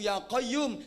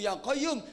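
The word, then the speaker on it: يا قيوم: nggak beres salah wiridan harusnya yahayu yaqoyum yahayu yaqoyum dibaca Yoka Yoka Yoka Yoka Yoka Yoka Yoka Yume harusnya yahayu yaqoyum yiwu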